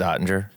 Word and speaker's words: Oettinger: I I never pronounce his name right, either. How do you actually say his last it's Ottinger.